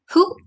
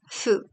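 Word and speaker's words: ふ: H A H E he um so for who you have to pronounce it food. So like the who sound is actually not used. So you have to pronounce it as fu.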